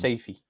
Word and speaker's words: Safi: Safi. Pronounce Safi. Yeah, the first thing I said was, is it Safi or Saifi? And he went Safi.